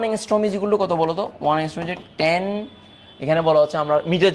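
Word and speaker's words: ångström: সো এটা আরম্স্ট্রম না এংস্ট্রম। তো তাহলে এই এটা এই ওয়ান এংস্ট্রম ইকয়ালটু কত বলতো? ওয়ান এংস্ট্রমট এখানে বলা হচ্ছে আমরা মিটার যেহেতু দেওয়া আছে তাহলেটান ইনভার্স 8 সেন্টিমিটার।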